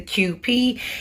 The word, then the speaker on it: Kewpie: not she is the qp it's pronounced like the letter is q and p but it's spelled k